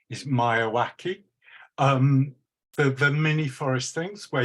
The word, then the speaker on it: Miyawaki: I've got it in my notes, of the Japanese biologist Akara, my pronunciation is Miyawaki.